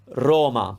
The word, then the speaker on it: Roma: and finally la capitale roma it's closed once again it's not